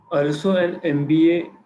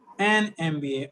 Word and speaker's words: MBA: mba program why because when we say m we're not really saying m the sound is of m the sound matters not the spelling okay that's what they